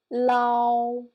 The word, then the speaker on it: lao: For example, le, ao, lao, lao. Yeah, can you feel that I combine these two syllables together?